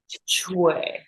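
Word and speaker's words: 吹: So we have Chuī, which is for the kidneys, and that's the water element. And it's ch as in Chinese, and Wei as in way, like W-A-Y. Chuī.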